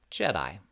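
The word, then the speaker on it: JEHDI: journal of early hearing detection and intervention is pronounced jedi yeah we're all geeks in this study we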